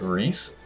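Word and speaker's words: Rhys: Wait, you pronounce it Reese? Yeah, R-H-Y-S. That's another spelling. Wait, what do you say? My favorite is Saul because one joke. Oh, it's Reese, bro.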